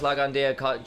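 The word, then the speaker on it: Lao Gan Die: Trying to get those Lagandia chants out. That's how it's pronounced over there. They don't do LGD.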